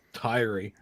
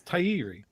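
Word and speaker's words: Taieri: Decades of people saying it's Tairi. Yeah. And it's like, no, look at the spelling. It's Tairi. The funny thing about mispronouncing it there.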